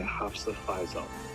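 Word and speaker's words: Hafsah Faizal: Just because I don't want to mispronounce it, but teach me how to say it. Hafsa Faisal.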